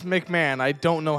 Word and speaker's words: McMahon: this can't be real Tim MC Tim MC mcon sorry I absolutely butchered that last name it's McMahon I don't know how